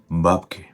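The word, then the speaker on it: бабки: And it's very important to put the stressed syllable on the first vowel sound.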